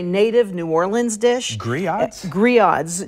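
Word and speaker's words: grillades: that's a very native New Orleans dish griot Gris odds G you would pronounce it it's spelled GRI ll a DES but pronounced Gris odds okay okay it's it's something that's served at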